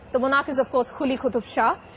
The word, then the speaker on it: Quli Qutb Shah: The monarch is of course Quli Qutub Shah. It's not Kh. There is something in between which you need to voice. Quli Qutub Shah.